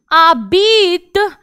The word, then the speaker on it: habite: Où habite, H नहीं बोला मैंने, H नहीं बोला, habite, habite-tu.